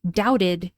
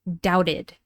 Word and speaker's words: doubted: He had some serious doubts about his decision or he doubted his decision. So the past tense of doubt is pronounced doubted.